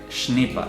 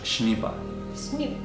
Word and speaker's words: Schnieper: es cómo Marcus qué eh snipa se pronuncia es es alemán que hemos cogido por ahí Marcus snipa snipa Sí algo así